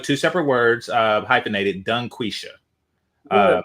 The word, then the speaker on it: DungQuesha: Dunquisha. Uh, make sure you pronounce the G when you say her name.